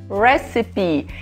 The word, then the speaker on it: recipe: Mas não, receita em inglês é recipe. Eu e minha mania de ficar inventando pronúncia por aí.